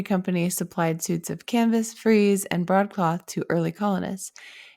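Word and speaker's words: frize: So first, the light colored freeze coat, which I looked up how to say that. I think I originally said fris. It's spelled f r i ze. So apparently that's pronounced freeze.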